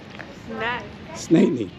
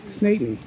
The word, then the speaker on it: St. Anthony: Snatney. Snatney. Snatney. Snatney, yeah, with the N. Snatney is how the locals say it.